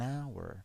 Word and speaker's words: hour: An hour, because it starts with a hour, an hour. It's H. But the sound is a hour.